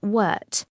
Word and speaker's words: wort: The sweet liquid produced is now called wort, pronounced wort.